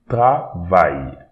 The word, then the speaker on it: travail: Don't pronounce this E, M, and A-I, L at the end here, so travail. So we don't pronounce the E at the end, but we pronounce the Y. Travail, travail, travail.